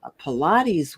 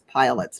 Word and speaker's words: Pilates: I was big into aerobics, and I was jogging, and Pilates was relatively new later on. Mhm. And I used to mispronounce it as pilots because, but It anyway, looks like that.